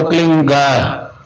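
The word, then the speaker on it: क्लीं: होता है एक शब्द क्लीन शब्द क्या आधा लय में मिला हुआ, बड़ी की मात्रा और बिंदी, उसका उच्चारण होगा क्लीन।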